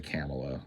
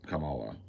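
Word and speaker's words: Kamala: remember uh Cala har I always say her name wrong I say camela and I think it's Camala but I may be wrong maybe it is camela anyway whatever I've heard it both ways camela Harris um she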